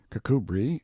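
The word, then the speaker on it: Kirkcudbright: style being The Honorable Kirk cbright lover majer Banks sellers vicount Berkeley of chundy Castle Warwickshire pronounced cbri Slover Marshbank sellers vicount Barkley of chumbley Castle warshire he is standing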